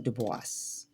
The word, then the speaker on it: Du Bois: correct way but anyway most of us do say uh web dubois or some who are of the intellectual sect those who are deep within the the African diaspora culture they usually say his name uh dubis like voice.